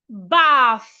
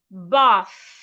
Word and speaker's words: bath: The next word is bath. Do not say bath or bat. No, because there is a H after the T. Put your tongue in between your teeth and say bath.